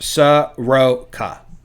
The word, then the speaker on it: Soroka: Looks, according to Baseball Reference, it's pronounced Soroka. Soroka.